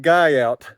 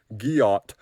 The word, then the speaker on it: Guyot: is on top of mountain guy out well I just mispronounced it it's French guot I'll show let me